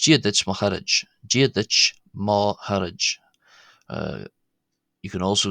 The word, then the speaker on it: chairde: Uh and this R here is not being pronounced as the R in English because it's one of the we'll come to this later in the video but what's known as a slender R.